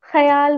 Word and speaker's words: ख्याल: लेकिन उर्दू ऐसे शब्द, जैसे कि ख्याल का उच्चारण जब वे ऐसा करते हैं ख्याल कहते हैं। हम खियाल कहते हैं। नहीं, हम 'ख्याल' हैं।